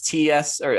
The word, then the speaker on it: Tso: yeah it's like it's ts or sto yes i think it's tso three white guys talking